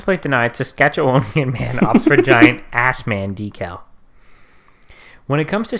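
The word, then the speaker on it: Assman: Dodge Ram pickup truck ass man pronounced Osmond oh that's so lame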